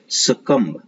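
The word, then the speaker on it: succumb: टू से संबंधित होना सकम सकम में सक बी नहीं होता है बी साइलेंट होता है इसको पढ़ते हैं सकम सकम और इसको इल्ड सकम टू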